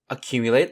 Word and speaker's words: accumulate: In terms of spelling, accumulate again has the two C's, making a hard C sound. Just watch out for the U's in the word. Although they are by themselves, they say their name as their sound and don't use the short U sound.